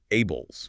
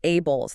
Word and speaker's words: ABLLS: The ABLLS pronounced ABLESS. The ALLLS ABLESS.